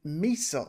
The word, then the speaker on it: Mesa: you have the uh Mesa or Mesa or even Misa someone called it which I really do like the name of um pronouncing it like that that is the user